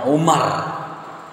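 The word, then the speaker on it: عمر: Hain nih roll tulisannya berarti bacaannya Umar Kapan dibaca Amr jika setelah huruf ro itu ada huruf Waw air Meme Roro Wow mati bacanya Amr kalau tak ada Wow Umar makanya Rasulullah pernah berkata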